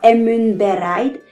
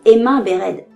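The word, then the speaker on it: Emyn Beraid: Ainsi, en Sindarin, on dira emun bereid et non emin bered.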